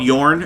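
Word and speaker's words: Jorn: here and there the band called yarn and it's spelled Jo RN and they had an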